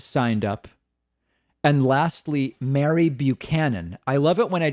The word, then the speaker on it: Buchanan: Oh, I pronounced Buchanan wrong. It's Buchanan. Oh my God, that's horrible.